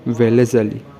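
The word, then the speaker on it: Wellesley: Lord वेलेज़ली, इस actual में इसका प्रोनाउंसिएशन होगा लॉर्ड वेलेज़ली, ठीक है, लॉर्ड वेलेज़वाली, ठीक है, लॉर्ड वेलेज़वाली, वालेस नहीं, लॉर्ड वेलेज़वाली, ठीक है।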